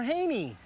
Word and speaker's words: Hane: forecast first is next is it hane or haney it's han you may pronounce it different but the service is